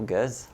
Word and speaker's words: Gueze: Bonjour Guz. Salut Marc. Je le prononce comme il faut?